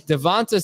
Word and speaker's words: DeVonta: When clearly Devonta Smith is one of the most obvious mispronounced names and he hasn't picked up on that. It's pronounced with a tuh, not a tay, Adam.